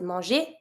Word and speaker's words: manger: For the verb that you see, such as to eat, which is manger, we pronounce it manger, G plus ER, manger. We're going to have to add a little thing.